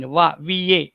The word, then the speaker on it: one: The ONE1 in the beginning, VA, the sound is VA, right?